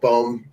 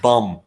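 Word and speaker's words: Bohm: please put the alec bomb experiment to bed you mean it's pronounced bum alec bomb with two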